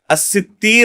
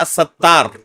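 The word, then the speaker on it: الستير: الستیر اللہ رب العالمین کا، یا الستیر، دو طرح پڑھا گیا اس کو، یہ صحیح نطق ہے اس نام کا. بعض لوگ کیا کہتے ہیں؟ الستار.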